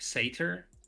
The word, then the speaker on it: satyr: He's a unicorn centaur, satyr, cyclops. Satyr sounds so weird. Is that how you pronounce it? I don't know how else you'd pronounce it. So it must be. It's in Greek. It's satyros. Satyr.